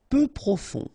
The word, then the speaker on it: peu profond: Peu profond, final D not pronounced, peu profond.